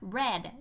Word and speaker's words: read: แตก ต่าง ก็ คือ มัน อ่าน ว่า Red นะ คะ เหมือน กับ คำ ว่า Red ที่ แปล ว่า แดง นะ คะ สี แดง อ่าน เหมือน กัน เลย นะ คะ ช่อง 2